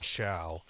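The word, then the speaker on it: ciao: I didn't know that and Italy Chia is spelled c i AO I think that's the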